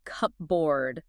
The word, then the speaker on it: cupboard: Yeah, if you do that, you will experience a linguistic concept called assimilation. Your mouth just naturally merges the p and the b sounds together. In linguistics, both of those sounds are bilabial consonants, meaning you have to press your lips together to make them. Okay. It takes way too much mechanical effort to close your lips for the p, open them, and then instantly close them again for the b.